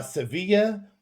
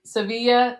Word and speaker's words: Sevilla: Well, it rhymes with silla. So, if Sevilla, silla.